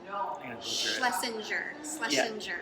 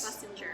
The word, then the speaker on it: Schlesinger: You're going to have to help me pronounce her last name. Schlesinger. Yes. Schlesinger.